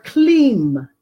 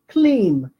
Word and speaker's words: Kleem: Number two, to attract friends, you want to use the mantra Kleem. Kleem. It is spelled K-L-E-E-M.